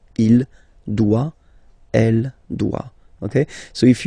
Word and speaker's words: doit: Final T not pronounced. Il doit.